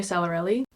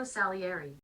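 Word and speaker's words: Salieri: from the perspective of Antonio sarelli is that how you say his name Antonio saleri saleri what did I say Antonio sarelli saleri I might not have said that anyways they were both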